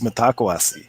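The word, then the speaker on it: Mitakuye Oyasin: My pronunciation's a little bit off on that, but I have the same. I always thought it was mitakwasi, or maybe it varies depending on the tribe too.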